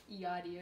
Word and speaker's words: Yachty: Like yacht. Oh, like yacht.